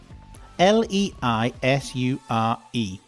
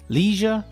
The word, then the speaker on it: leisure: Leisure. Leisure. Leisure is British and leisure is American. So this time it's actually inverted. The longer one, let's say the longer pronunciation is actually the American one this time.